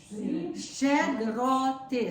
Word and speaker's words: Щедроти: And are you kind of stopping the T's? Are they? No. You're not saying explosive T. You're saying more of a the. T. Yeah. Yeah, it's not an So it's not the explosive.